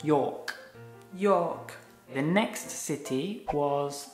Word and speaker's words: York: Yeah, don't pronounce the R, just York.